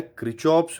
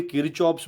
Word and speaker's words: Kirchhoff: जिसे कहा जाता है किरचॉफ्स laws of electrical network. अब कोई किरचॉफ्स बोलता है, कोई क्रिचॉफ्स बोलता है, दैट डिपेंड्स ऑन अलग अलग टीचर्स का अलग अलग प्रोनाउंसिएशन है।